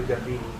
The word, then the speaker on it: Gambini: I don't know how to describe this night, but what an absolute pleasure to have met you, Fabio Gambini. Did I pronounce it correctly?